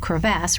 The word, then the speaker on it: crevasse: The second syllable of crevasse rhymes with mass, which means big.